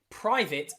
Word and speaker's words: private: But in many accents, especially in Britain or the UK, private will be pronounced with a short I. I. So you'll see the A here is I.